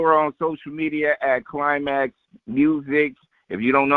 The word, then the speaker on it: Klymaxx: And you can follow her on social media at Climax Music. If you don't know how to spell it, I'll spell it for you.